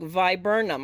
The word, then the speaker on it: viburnum: by what oh my goodness how does it pronounce again i can't ever get it said right let's see let us look viburnum i was saying it right so see eastern